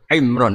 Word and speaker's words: Imran: Dari sana Bugis Imran, jadi orang sana nggak pakai ro. Kalau orang ngerok, jadi pakai ra. Kalau ainnya? Ain pakai ain. Berarti apa? Imron gitu. Ya kalau sana tulisan KTP Imran. Apa bacanya orang-orang Sulawesi? Apa? Imran.